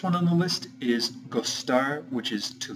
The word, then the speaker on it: de: on the list is gar which is to like and this is conjugated regularly however every time that you use this you have to put the word d e afterward which is pronounced G so for instance if